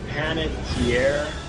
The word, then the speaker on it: Panettiere: I can never pronounce this name right. Hayden Panettiere.